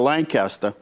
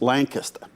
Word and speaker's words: Lancaster: little town in Pennsylvania outside of Lancaster or as they say Lancaster not where Jane lives Jane lives in Lancaster in um in in in Pennsylvania it's Lancaster it's different Lancaster spelled the same but it's Lancaster anyway there's a u